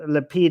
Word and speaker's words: Lapid: biggest problem with because his name rhymes with the name of his party and that's why it's